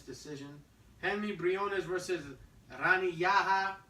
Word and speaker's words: Yahya: Henry Briones versus Rani Yahya, or Yaya, however you want to pronounce it. I think it's Yaya.